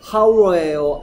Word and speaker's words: hour: 자, 얘는 발음이 hour예요. hour예요. hour. hour죠. h가 소리가 안 나요.